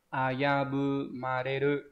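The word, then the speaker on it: 危ぶまれる: Nào, cái từ này nhá, nó sẽ đọc là ayabumareru, đúng không?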